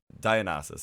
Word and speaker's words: Dionysus: Dionysus, I think it's how you pronounce it.